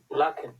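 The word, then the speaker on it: lachen: পাচ্ছি অমিত হাসান ভাইয়া এটা দেখেন তো এটা উচ্চারণ করে এই শব্দটা লাখেন এল আ সে হা এ এন লাখেন লাখন লাখেন মানে ছবি দেখে আমরা কি বুঝি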